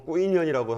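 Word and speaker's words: Quy Nhơn: 베트남 발음으로 꾸이년이라고 한다는데 저게 1965년에 국군 수도사단, 우리가 흔히 맹호 부대라고 불리우는 그 부대가 주둔했던 지역이 꾸이년입니다.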